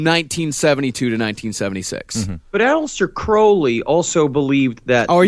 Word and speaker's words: Crowley: It's actually It is It is pronounced Crowley. You're supposed to say Crowley, but come on, Mr.